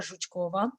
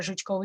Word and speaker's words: Zhukova: her name is vera zhukova i'm saying it exactly as it is in russian it's a bit harder to pronounce in english but she her name is vera jochkova she actually graduated with me we're both certified instructor 2018.